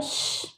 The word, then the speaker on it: shh: ठीक है, तो अटेंशन के लिए हम यूज़ करते हैं लिसन, लुक, लो, श, और ये SHH इसका प्रोनाउंसिएशन होता है श।